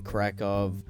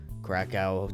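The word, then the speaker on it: Kraków: We recorded this at the M Crackov, Crackow, depending on how you say it, wherever you live. Don't I I gave you both of them, okay? Crackow, Crackov, however you want to pronounce it.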